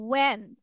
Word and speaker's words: when: Whenever you are asking when কেন শোনা যাচ্ছে? H উচ্চারণ করা যাবে না সৌরভ, ঈশান। When বলতে হবে, okay? No H is pronounced.